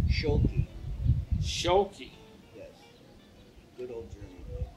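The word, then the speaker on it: Schuelke: Okay, so Carl, I got to pronounce the last name. Schultz. Schulke.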